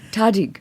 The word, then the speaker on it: tahdig: Is that how you pronounce it? Of the tahdig. Tahdig.